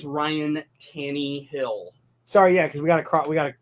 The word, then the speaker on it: Tannehill: I think the Broncos can still be back on track even with Tannehill in the game. It's Ryan Tannehill.